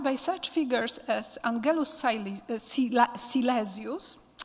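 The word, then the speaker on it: Silesius: such figures as Angelus silasius I I don't want to pronounce it in English so once again silasius a religious German poet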